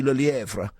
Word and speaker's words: Le Lièvre: Did he pronounce that all right, Catherine? You going to pick him up on that? He's pronouncing it beautifully.